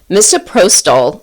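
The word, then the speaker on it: misoprostol: Moprotol I think that's how you pronounce it.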